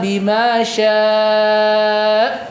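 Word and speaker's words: بِمَا شَاءَ: Illa bima sya. Kalau saya sya enggak ada hamzahnya. Tapi kalau saya kasih tekanan bimya, nah itu menunjukkan wu ada hamzah.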